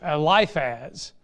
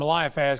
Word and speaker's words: Eliphaz: I call him Eliphaz. It's Eliphaz. Pardon me for not, I added some an extra syllable in there to make it easy on me, but it's Eliphaz, not Eliphaz.